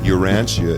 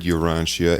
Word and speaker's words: Urantia: book for those of you who are listening urantia is spelled u-r-a-n-t-i-a and those of you who may